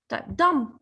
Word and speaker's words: dumb: shy of something okay dumb what do you mean by dumb of course we do not pronounce the b okay the b is silent here what do you mean